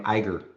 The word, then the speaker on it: Iger: And I think Aja is telling me I should be pronouncing his name Iger.